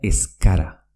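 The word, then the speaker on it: ez gara: Es gara, que quiere decir no somos, se pronuncia escara. Repito, es gara, que quiere decir no somos, se pronuncia escara.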